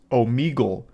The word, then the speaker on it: Omegle: And only today am I realizing that it's actually pronounced Omegle.